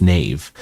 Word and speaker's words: knave: It also has an interesting pronunciation. Knave. Like no, it's knave.